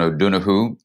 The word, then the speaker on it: O'Donoghue: You know, my dear friend, John O'Donoghue in America, we call him. Good pronunciation, man.